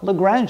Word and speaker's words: Lagrange: It's a French name. I think in French we pronounce it Lagrange, but how do we pronounce it in English? Well, Lagrange is the way I call it.